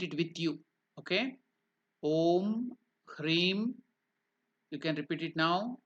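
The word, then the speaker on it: ह्रीं: is om cre so you have to correctly pronounce it h r e e m cre so that Mantra is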